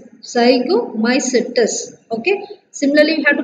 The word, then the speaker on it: Zygomycetes: How to pronounce that? Zygomycetes. Zygomycetes.